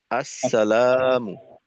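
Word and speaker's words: اَلسَّلَامُ: শুরুটা কোথায় গেল তো প্রথমত হামজার জবরকে স্পষ্ট করা স্বাভাবিক সাধারণত দেখা যায় যে আমাদের সালামের ক্ষেত্রে ভুলটা এখান থেকেই শুরু হয় যে হামজার জবরের উচ্চারণটা স্পষ্ট থাকে না। তো হামজার জবরকে স্পষ্ট করা। মিমের পেশকে স্পষ্ট করা।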